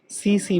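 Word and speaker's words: tsetse: ইট গেটস transmitted through the byte of দ্য সিসি ফ্লাই, এটাও pronunciation ভালো করে মনে রাখবি, সিসি ফ্লাই, টিএসি টিএসি, সিসি বলা হয় এটাকে, হ্যাঁ?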